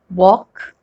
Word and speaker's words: walk: the rule first l is not pronounced when it comes after vowels a o and u let's look at some examples to understand this better so the words like calm bomb walk talk almond l is